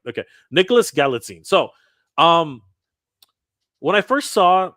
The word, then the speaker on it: Galitzine: And I'm going to talk a little bit about the casting for Gazeltine. Sorry, I'm always pronouncing his name wrong.